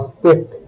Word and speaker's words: steak: Words ending with B, K and Q also have the final letter pronounced. Le club, un steak, sac.